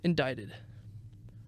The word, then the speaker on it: indicted: murders huh indicted indicted does indicted have a c in it I'm pretty sure that's just how it's pronounced indicted indicted I don't know